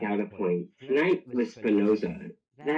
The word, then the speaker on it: Spinoza: Tonight was Spinosa. Is that how it's pronounced? Spinosa. Spinosa. Yeah, it's Spinoza.